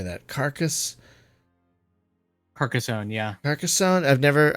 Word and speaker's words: Carcassonne: Karka Park how do you say that carcass Carcassonne yeah America son I've never I don't think